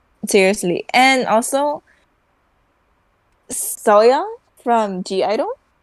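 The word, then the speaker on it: (G)I-DLE: and also ya from G Idol you don't pronounce the G but I pronounce the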